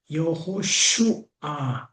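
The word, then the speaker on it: יהושע: 여호수아 히브리어는 여호슈아라는 발음을 갖게 되는데 여호와는 구원이시다 또는 여호와께서 구원하신다라는 뜻을 가지고 있습니다.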